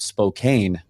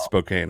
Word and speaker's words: Spokane: Well, I heard Klaus Meine of Scorpions pronounce it Spokane one time when I saw them at the Monsters of Rock show many moons ago. So the people of Spokane get very mad about that, and then phonetically it is Spokane.